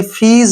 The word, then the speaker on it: fees: अब जैसे FEES, इसको फीस पढ़ते हैं अक्सर, वो गलत है, ये फीस है।